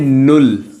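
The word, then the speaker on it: null: Zero को बोलते हैं नुल।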